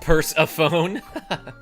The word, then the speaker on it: Persephone: Actually, it's pronounced purse-a-phone.